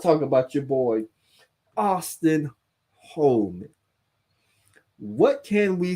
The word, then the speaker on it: Holleman: Is Holman, Hollerman, whatever his name. I'm gonna call him Austin Holleman, even though there's no R in his name. I'm gonna call him Holleman.